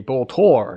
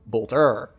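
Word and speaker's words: Boltor: It is a bolour, not a bolter.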